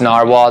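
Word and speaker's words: Narwal: the name says naer I'm pretty sure it's just pronounced narwhal that's how they the company itself has pronounced it to us I think it was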